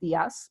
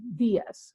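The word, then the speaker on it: días: on that particular words we would say when ice Diaz not Diaz but Diaz buenos Diaz and that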